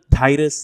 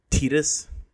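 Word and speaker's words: Tidus: Now that I know the real pronunciation, I can't bring myself to continue saying it wrong. Even though Titus sounds a lot better. His name is actually pronounced Titus.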